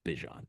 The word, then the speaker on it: Bijan: He says you can call me whatever, but it is pronounced Bijan.